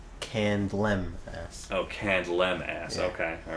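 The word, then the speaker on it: Candlemass: next review that you did, which was uh, Candelams. Yeah, it's actually pronounced Candlem.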